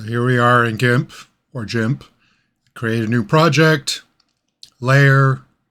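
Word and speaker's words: GIMP: source image manipulation program some people i think pronounce it jim but i call it so here we are in or jimp create a new project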